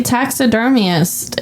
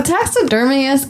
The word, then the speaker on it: taxidermist: going to show the taxidermist his work my thing is is the taxid dermus actually interested in any of this it might be tax couple extra syllables on taxidermist yeah he's taxidermist wait